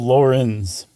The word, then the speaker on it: Laurens: It's Lawrence, but I think you pronounce it like Lawrence, but it's spelled Laurens.